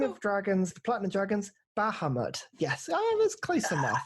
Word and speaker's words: Bahamut: Is it Bahamut?